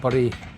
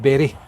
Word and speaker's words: Bury: So, we've got a few days at the Bur Caravan and Motor Home Club site. Um, I think it's actually pronounced Berry.